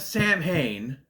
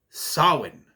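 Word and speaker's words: Samhain: free Lucifer from hell and the raising of Sam Hayne and yes I cringed every time they said it because it's wrong you me conell Cochran from Halloween 3 all know is pronounced Sinn and yet a show B based on lore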